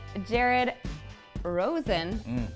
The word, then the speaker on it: Jared Rosen: Natasha I am here in Los Angeles with Jared Rosen good that was good pronunciation can you say my last name I